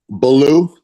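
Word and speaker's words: Baulieu: Sir, how is your name pronounced? Belaloo. Belaloo. Yes.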